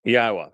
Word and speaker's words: Yahowah: hundreds of them and the Y sound in Hebrew is pronounced exactly as the Y is in English it's a legacy of